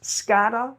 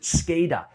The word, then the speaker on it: SCADA: is supervisory control and data acquisition some people pronounce this scata other people will pronounce it scada it doesn't matter as long as you know